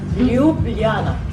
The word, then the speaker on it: Ljubljana: Okay, so how do you pronounce the name of the city here, the capital? Ljubljana.